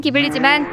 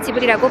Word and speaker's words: Ghibli: 원래 발음은 기블리지만 발음착오로 인해 지브리라고 발음하게 되었는데, 이미 전 세계의 지브리로 널리 알려져 현재까지 지브리로 통용되고 있죠.